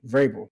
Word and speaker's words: Vrabel: Vrabel.